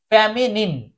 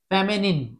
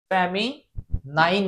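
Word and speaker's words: feminine: কিন্তু এটা normal নাইন না। এটার উচ্চারণ হবে নিন। ফেমেন। ফেমেনিন এখানে ফ্যামি হতে পারে আবার ফ্যামাও হতে পারে।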